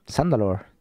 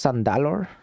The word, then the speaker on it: Zandalor: quickly lock the door sandalore zandalor and The Marked Ones are trapped inside Victory Is Ours wait it's pronounced sandor hell